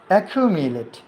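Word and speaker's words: accumulate: অ্যাকিউমিলেট, এটা সঠিক উচ্চারণ হলো অ্যাকিউমিলেট, কিউমিলেট, মিওলেট, মিওলেট, অ্যাকিউমিলেট।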